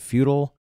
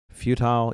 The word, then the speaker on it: futile: that word I struggle is it feudal futile you look it up and it's both it's just so you know it both are acceptable pronunciations and for some reason